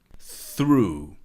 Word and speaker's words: through: Through. Through. This is similar to thought, as the TH has the same sound, and the GH really is really silent, really comes from Old English.